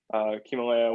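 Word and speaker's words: Ximalaya: Himalaya was, and it's spelled like XI, Himalaya, kind of like Himalaya.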